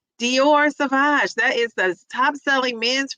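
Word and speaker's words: Sauvage: I want to say sausage, but with the V instead of the S. Savage, Dior Savage.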